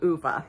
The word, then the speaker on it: Ove: Man Called Ove by Frederick Bachman.